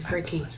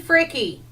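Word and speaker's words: Fricke: Janie Fricky. Is that Jenny Frick? It's Janie Fricky. It was. Wasn't that her name? Spelled with an E, Jenny Frick. It's Fricky. It's Fricky.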